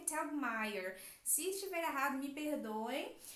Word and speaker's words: Telgemeier: Para americanos, então eu busquei lá no Google para poder saber como que pronuncia direitinho e o Google me falou que é Telgemeier.